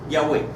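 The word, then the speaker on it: Yahweh: esas cuatro letras se llama tetagam y se pronuncia Así yah yahwe es indivisible no está dividido en dos o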